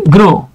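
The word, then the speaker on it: grew: আচ্ছা আরেকটা দেখাই, যেমন দেখেন এই যে গ্রো, আমরা এভাবে বলতে পারি যে হি, গ্রোর পাস্ট টেন্স হচ্ছে গ্রু, আমরা অনেকে এটাকে গ্রিউ বলি, এটার উচ্চারণ হচ্ছে গ্রু, গ্রু।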